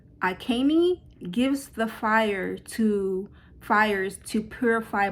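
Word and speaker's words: Agni: I believe it's pronounced Akani, gives the fires to purify blessings.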